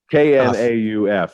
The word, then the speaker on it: Knauf: Do you pronounce the K or is it just Knauf? I do pronounce the K. Thank Knauf. you. Okay. You got it. You got it. Knauf.